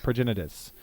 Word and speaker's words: Progenitus: Progenitus? Progenitus. 2 white, 2 blue, 2 black, 2 red, 2 green. 10/10. Protection from everything. If Progenitus would be put into a graveyard from anywhere, reveal Progenitus and then shuffle it into its owner's library.